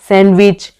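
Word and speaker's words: sandwich: Next silent D आ जाता है, जैसे कि Wednesday, सैंडविच, handkerchief, as, handsome, जज, ग्रैंडफादर।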